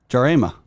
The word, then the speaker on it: Jarema: Carl sent me how to say his name mnemonically, so let me not butcher this. Jarema.